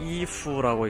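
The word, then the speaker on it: 逸夫: 저 앞에 일부, 중국어 발음은 이푸라고 읽는데요.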